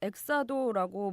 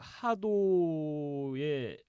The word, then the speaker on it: XADO: 예, 그래서 이제 보통 영문으로 X 발음은 이제 그 S 발음이라든가 이제 J 발음을 많이 하는데 이제 러시아어에서 H 발음은 X 발음은 영문의 H 발음이 납니다.